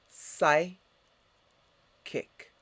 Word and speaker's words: psychic: your mind that's the psyche next psychic repeat psy kick and what does psychic mean um psychic means